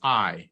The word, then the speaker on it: Ay: Meanwhile, the Grand Visir, whose name was I, is it's spelled a Y, he was old enough to be her grandfather.